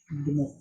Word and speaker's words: בנות: benot, like benet.